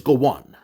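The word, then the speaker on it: Gowon: acronym of his name Goan is spelled as g w n oh my God his name is Gowan and during the time of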